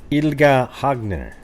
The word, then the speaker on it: Ylva Hagner: might be some developments I looked up how to pronounce her name so aren't you guys impressed that I said ilga hagner yeah there must be something going on right